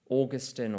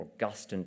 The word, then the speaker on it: Augustine: fragile societies are fragile Augustine or Augustine depending on whether you're Catholic or Protestant they pronounce it differently um as a